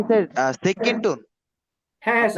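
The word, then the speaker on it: 七: Seven, seven এটা তো first tone, এটা হবে সি, সি এরকম। সি। হ্যাঁ আমরা বাংলায় অনেক সময় বলি না যে ছি ছি, তো এই যে স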